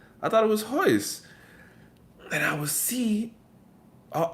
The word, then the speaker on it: Royce: earlier they're ours and double r's are pronounced like a h more right and so uh uh like one of the Legends in MMA Royce Gracie is Hoist Gracie and when I was